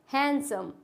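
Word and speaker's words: handsome: क्या होता है, हैंडसम, इसमें डी होता है साइलेंट।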